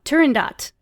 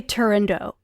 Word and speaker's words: Turandot: Okay, I was about to be like, is this T at the end of fucking Silent T? It's Turandot. Oh my god. And here's about that highbrow shit. Like, you'll hear people mispronounce it all the livelong day. They will say Turandot. It's not even a French opera. Turandot would be the French pronunciation. Oh, yeah. But it's an Italian opera, and it's set in fucking, like, China.